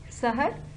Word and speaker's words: سحر: سحر سین پہ زبر، ہے پہ زبر، رے پہ جزم.